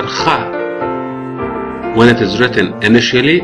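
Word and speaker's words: خاء: So in English it is pronounced like KH, and it is pronounced as in the Arabic name Khalid.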